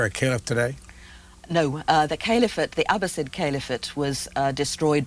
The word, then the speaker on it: caliphate: You pronounce it caliphate? The caliphate, yes.